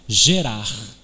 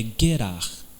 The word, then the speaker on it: Gerar: acampamento no lugar que se chama gerar na realidade a pronúncia é Hebraica é guerrar a primeira reação de